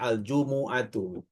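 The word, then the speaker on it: الجمعة: Aljumu bacanya aljumuatu.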